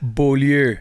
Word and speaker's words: Beaulieu: Is that how you pronounce it? Beaulieu.